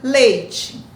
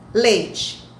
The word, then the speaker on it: leite: um ditongo o qual quando eu vou pronunciar lei o leite lei observe que o é é pronunciado com maior intensidade ler o e quase não aparece então ia ser divulgar